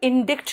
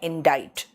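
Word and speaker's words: indict: बेटा इसको इंडिक्ट नहीं कहते हैं, इसका प्रोनाउंसिएशन है इंडाइट।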